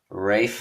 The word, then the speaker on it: Ralph: Is it Ralph Fiennes or is it Ray Fiennes? I mean, it's it's spelled Ralph. Is it Sean Bean He or is it says Sean? Rafe.